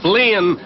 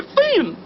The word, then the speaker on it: Finn: of these boys Huckleberry Flynn was an idler a useless loafer then what what was that I love the useless loafer it was Huckleberry Finn not Flynn ain't it for decent